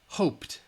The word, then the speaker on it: hoped: know hoped all right it ends with the P sound which is voiceless so the P sound is voiceless which means you should in the comments write T hoped all right hoped